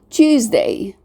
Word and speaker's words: Tuesday: Tuesday. The S letter, we pronounce it as a Z sound.